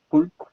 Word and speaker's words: could: The pronunciation is something difficult because you have 4 or 5 letters, no? And in Spanish, you say cool, in Spanish. But in English, only 3 sounds. The letter C is k, u, u, and d. Could. That's the pronunciation, could. Letter O and letter L are silent.